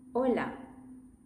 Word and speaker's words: hola: Okay, that word should have been pronounced like this. Hola O. The most common mistake is for people to go with hola. Hola. Yeah. Don't bring your English into the thinking.